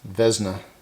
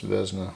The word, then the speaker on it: Vesna: that so that's off i believe that's pronounced uh vesna with this pronounced vezna i can't read what